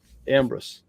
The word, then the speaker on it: Ambrus: didn't practice Ambrose before I kind of put the emphasis on the first part of the word I thought I got that right Ambrose yeah I love it